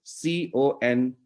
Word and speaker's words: content: of the word so the same spelling is for two different words okay when you say content it means it means some substance it means volume it